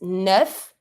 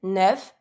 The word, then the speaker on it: neuf: Then we have 9, which is neuf. You pronounce every letter here, neuf.